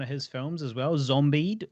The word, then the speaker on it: Zombied: So he cast me in one of his films as well, Zombied or possibly Zombed, depending on who's pronouncing it at the time. I think it's Zombied.